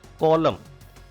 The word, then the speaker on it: column: Column. N is silent here. It is not column.